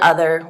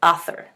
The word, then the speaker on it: other: in the word that he was really having a difficult time voicing that inner dental fricative so and instead of saying other he was pronouncing that word as author and we practiced voicing